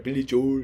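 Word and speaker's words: Billy Joel: 여기서 또 에리 빌리졸 이렇게 발음한다 하더라고요. 어씨 그냥 근데 한국식대로 발음합니다.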